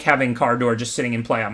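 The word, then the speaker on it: Kardur: It's pronounced Cardor.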